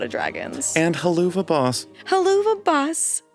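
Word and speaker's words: Helluva Boss: Haluva Boss. People still think it's called that. Really? People come up to the table and they call it Hoova Boss.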